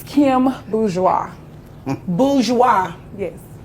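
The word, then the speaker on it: Boudure: I'm a fan I'm a fan it's Kim bis bis yes how do you spell it b o u d u r e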